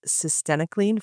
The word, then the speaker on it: cytisinicline: About if anyone wonders how to pronounce it, it rhymes with verenoc. This was a article titled systemicleanine for smoking sessation the orca phase 3 replication randomized clinical trial.